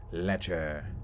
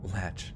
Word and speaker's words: lech: trina mcleod trina yeah lecher latch no not latch it's like a dragon like wait let short for lecherous pronounced lech thank you monty money